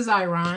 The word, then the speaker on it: Xyron: equipment that I'm talking about is called a xyron and it's spelled X Y ro n and it takes